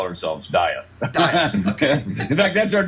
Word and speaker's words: Dieth: cause whatever you want but we call ourselves diet okay in fact that's our new hashtag we